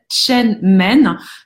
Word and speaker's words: Shen Men: Et vous allez l'appliquer en fait sur un point d'acupression thérapeutique qui s'appelle Chen Men. Chen Men s'écrit S-H-E-N et plus loin M-E-N.